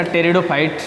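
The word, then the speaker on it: pteridophytes: तीसरा ऑप्शन है इसका टेरिडोफाइट्स मैं इसमें पी साइलेंट रहेगा टेस्टर फाइट है क्योंकि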